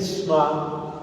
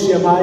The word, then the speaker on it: shemá: con el verbo escuchar, que en hebreo se dice shmá o shemá. Decimos shemá Israel. Yo he visto que los judíos pronuncian que así no suena esa suena más como shma sh Israel.